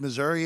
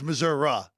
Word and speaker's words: Missouri: isn't it Missour although well there's Missouri and then there's Missoura right there's also that